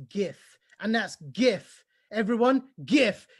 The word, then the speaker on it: GIF: knows how you pronounce GIF, and that's GIF. Everyone, GIF. Did you hear me? GIF. All other answers are wrong. It's GIF, as in Jen Giffen.